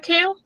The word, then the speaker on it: Kael: male's character's name is I was pronouncing pronouncing it Kael you can pronounce I however you want but it was basically Kail what did you think